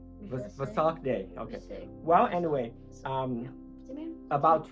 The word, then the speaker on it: Vesak: It's Vesak day.